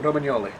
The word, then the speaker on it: Romagnoli: Across their back three, they have Romagnoli, who, asked how were you apparently supposed to pronounce it, Romagnoli.